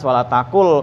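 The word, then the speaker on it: ولا تقل: Idgham bila gunah. Bacanya harus wala takul kalau kita baca.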